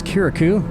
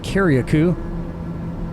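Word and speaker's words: Carriacou: Alright, so this island up here is Kirikou, which is how the locals say it, but some might also say Kiriakou.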